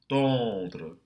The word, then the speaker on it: tendre: Silence, blanche, tendre. Be careful not to aspirate that T.